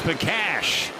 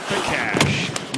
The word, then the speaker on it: Pakash: Moving in is Pakash. I know his name bar looks like Pakar, but you do pronounce it Pakash.